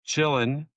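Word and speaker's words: Qilin: Oh, Quillin. Quillin. Jamie is is correct. Stephen, it is actually pronounced chillin, which is why I wrote chillin.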